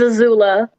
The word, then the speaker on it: Azula: It's Azula, like Avatar.